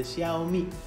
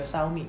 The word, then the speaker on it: Xiaomi: tulis disini adalah handphone Xiaomi ya Saumi itu alasan tak bisa ditemukan nanti kerapatan harus dibaca Xiaomi bukan suami atau siomay ya kalau handphone siomay